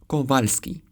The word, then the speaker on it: Kowalski: This very common Polish surname is actually Kowalski, and this name is Paweł.